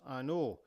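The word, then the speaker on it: An Oa: is pronounced an O and it means the O as in the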